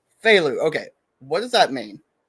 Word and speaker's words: Feyleux: Fu. Phu.